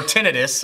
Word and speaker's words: tinnitus: Well, tinnitus. Yeah, yeah, I know. Or tinnitus, as some people will say it.